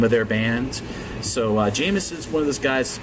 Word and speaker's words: JMSN: RB artist noon is Jameson we're simply spelled jmsn so it pronounces i was jeff jensen because there's been a